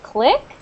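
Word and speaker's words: clique: oh I see okay in English when we say click like c l i q u e Click it's like um an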